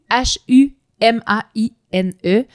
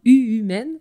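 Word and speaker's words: Uhumaine: Donc c'est U H U M A I N E. Donc U humine, mais ça se prononce, ça se prononce humaine.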